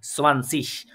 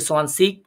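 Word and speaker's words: zwanzig: 20 নাম্বারটাকে বলি সোয়ানসিশ। অনেকে সোয়ানসিক বলে, আবার অনেকে সোয়ানসিশ বলে। প্রোনাউন্সিয়েশন একটু ভিন্নতা আছে, ওটা নিয়ে যাবেন না। আপনারা সোয়ানসিশ যেটা আছে ওইটাই শিখেন।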